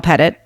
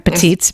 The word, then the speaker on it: Petit: you have a website that's pettit and i'm saying that wrong again petite but yes and so